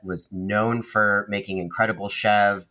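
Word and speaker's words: chèvre: known for making incredible Chev Chev is spelled s or c h v r e um Americanized pronunciation is Chev but it's goat it's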